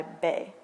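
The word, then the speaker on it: Bey: a man by his first name followed by bay pronounced spelt b-e-y so ertin gonca would be urton bay similarly a woman's first name would be followed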